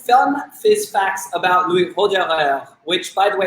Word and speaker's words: Roederer: which, by the way, it's not Roederer. I always thought it was, as someone who speaks French, and I was heartbroken to be told it's Roederer, really much more so you can pronounce the R.